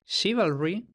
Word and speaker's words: chivalry: La forma chivalry se justifica fácilmente por ser un préstamo de cuando el dígrafo francés ch ya se pronunciaba she, es decir, hemos dicho que se introduce en inglés en la Edad Media, concretamente sería de forma posterior al siglo XI.